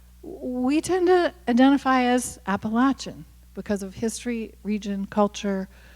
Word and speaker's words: Appalachia: Everywhere I go, people say, oh, you're from Appalachia. That's not how you say it. It's Appalachia.